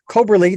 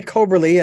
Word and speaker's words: Coberly: let you folks know we're talking with Eli coberley did I do I have your last name pronounced correctly yes Eli coberley and uh his quest did not come from